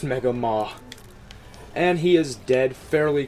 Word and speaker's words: Mega Maw: I know some of you might have saw that and be saying, oh, that's Mega Man. No, it is pronounced Mega Maw.